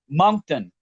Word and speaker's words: Moncton: How do you pronounce the town? Moncton. Right. I wasn't sure. Yeah. Moncton, New Brunswick, Canada.